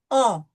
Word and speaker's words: un: Okay, so it's going to be nasal U, un.